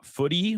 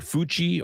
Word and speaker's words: Futi: me how to pronounce Footy? Like No. No, no, no. I'm not making fun. I'm saying that it's clever because you can pronounce it whatever your language of choice is.